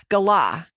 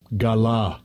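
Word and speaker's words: גָּלָה: Gala.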